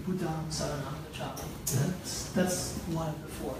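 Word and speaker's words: Buddhaṃ saraṇaṃ gacchāmi: Oh, that's how with the dot is pronounced. Buddham Saranam Gacchami. Gacchami means I go. So I go to Buddham Saranam. I go to the Buddha refuge. That is literally what that means. Buddham Saranam Gacchami.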